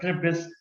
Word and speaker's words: Charybdis: Although it's written as Charybdis, but it's pronounced as Charybdis, Scylla and Charybdis.